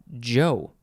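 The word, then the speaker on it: Chou: because i'm usually not next is joe it's like like the name joe but it is spelled c-h-o-u with a capital c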